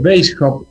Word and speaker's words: Weishaupt: Aunque sí vale la pena aclarar que Weishaupt, o Weishaupt, se pronuncia así en alemán, ha asimilado y aprendido